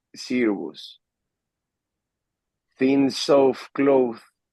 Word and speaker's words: Cirrus: No, it's C. It's not Psy. It's C. Cirrus.